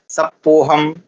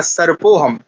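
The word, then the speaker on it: सर्पोऽहम्: तो कहा अब साधु ने पूछा कि भाई तुमने गलत उच्चारण क्यों किया? तो उन्होंने कहा कि मेरी जो रेफ थी वो तो आपने लगा ली। तो मैं अधिक उपयोग कौन करूं? क्योंकि यहां सही शब्द क्या होना चाहिए था? सर्पोहम।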